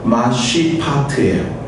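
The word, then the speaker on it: משפט: 이것과 대꾸로 사용되는 정의는요, 히브리 원어의 발음이 어떻게 되냐면요, 마쉬파트예요.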